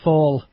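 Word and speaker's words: Fáil: fail H it's actually spelled fi but it's pronounced fall it's a it's a gay word or something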